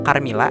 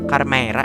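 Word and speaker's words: Carmeara: Akmal panggilnya Carmilla, ternyata yang benar adalah Carmera ya tulisannya.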